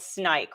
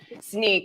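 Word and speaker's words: Snyk: let's talk about did I say it right snike right it's Nike it's it's it's snake oh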